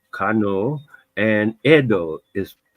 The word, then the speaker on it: Edo: in terms of because most people when they read it they say Ido but the Japanese pronounce the town Edo and the uh Yoruba